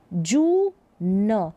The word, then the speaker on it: जून: की मात्रा, तो जू, जू न, तो ये बड़ा उच्चारण कर दे, जू न, जून। तो जू को थोड़ा बड़ा इसका उच्चारण कर देंगे क्योंकि बड़े ऊ की मात्रा है, तो जून, ये सुर, ये जून, ये सुर।